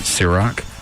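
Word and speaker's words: Cîroc: Trey, is it Ciroc?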